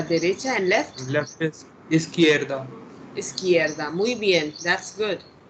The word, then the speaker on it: izquierda: So the pronunciation of izquierda, you listen, okay, is izquierda.